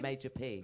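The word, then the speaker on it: Majah P: Major P. Major P. It's spelled differently as well. It's spelled MAJAH.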